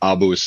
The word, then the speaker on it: ABUS: answering the phone and Abus is the traditional way to say it cuz the company is Augustus Bremacun. Yes. And so we would say Abus and then I would get phone calls and people would be asked for the bus schedule. So we started to we Americanized a little bit and we say Abyis in the States.